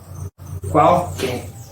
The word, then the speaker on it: qualquer: Qual con la letra Q y la letra U con sonido de CU, qual, pero todo junto, qual. Y que con sonido de KE, que. Y una R al final. Qualquer.